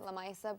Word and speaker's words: Lamisa: So it's really Lamisa, but we pronounce it Lamaisa because it's a bit different.